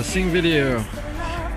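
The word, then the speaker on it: Þingvellir: le j'arrive à Singveur. Alors, il faut savoir que bah la petite lettre là au début du nom en fait ça correspond à un th de prononcer à l'anglaise on pourrait dire zinger.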